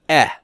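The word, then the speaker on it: ε: Okay, now the short E is the epsilon, and that's eh.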